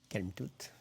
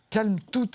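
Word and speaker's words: Kalmthout: C'est Calme-toute. Calme-toute et on prononce bien le T à la fin. On n'oublie pas.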